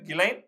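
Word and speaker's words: Ghislaine: பேரு கிளைன் ஆனா அது வந்து ஜிஹச்ஐ எஸ்ன்னு மத்த கிஸ் லைன் அப்படின்னு எல்லாம் அடிக்க வேண்டியதா இருக்கும். அந்த அம்மா பேரு உச்சரிப்பு வந்து கிலைன் மேக்ஸ்வெல் அவங்க அவருடைய அப்பா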